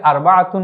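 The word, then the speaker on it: أربعة: তাহলে তিনের আরবি হচ্ছে সালাসা। চারের আরবি কি? চারের আরবি হচ্ছে আরবাতুন। আমরা উচ্চারণ করার সময় এটিকে আরবাতুন বলি। এমনিতে কথ ভাষায় আমরা যখন বলব তখন আরবা এভাবে বলে যাই।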